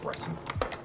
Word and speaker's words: Breton: No, that is pronounced Breton.